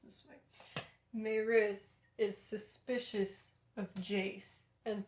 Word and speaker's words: Maryse: spelt maurice by the way it's but it's pronounced manros it's specifically mentioned in the book that it's pronounced this way maris is suspicious of jace and thinks that he's